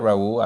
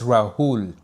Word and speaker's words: Rahul: Ah, thanks for that, Raul. I appreciate you, man. Sorry, I'm I'm mispronouncing your name. It's Rahul.